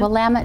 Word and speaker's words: Willamette: i do recommend this wine how do you pronounce that shine out of shine uh-huh willamette valley wait say that again willamette valley i haven't been there yet i have